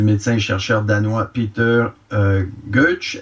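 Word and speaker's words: Gøtzsche: et chercheur danois Peter Goetsch. Est-ce qu'on prononce? Oui, on prononce Goetsch.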